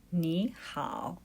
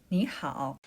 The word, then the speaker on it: 你好: 你好. It's pronounced. 你好.